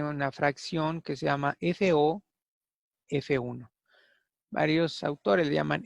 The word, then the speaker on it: FO: Se llama FO y no F0 porque esta proteína tiene un inhibidor que corresponde a la oligomicina. Y como oligomicina pues se escribe con O, por eso se le llamó FO.